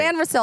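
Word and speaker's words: Sainristil: Or maybe actually now that I remember that you mispronounced Mike Sanil. Actually, I'm going to go three. San Ril.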